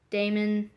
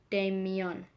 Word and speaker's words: Damon: He says, "Jake, Damon says his name is Damon, not Damian."